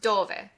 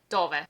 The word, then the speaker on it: dove: This is pronounced dove. Remember, since there's no accent on the word, the stress falls on the penultimate syllable, dove.